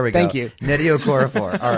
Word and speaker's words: Okorafor: Okorafor. Okorafor is, yeah. It's spelled Okorafor. Is, okay, exactly. Okof. RAFOR. Yes. There we go. Thank you. Nnedi Okorafor.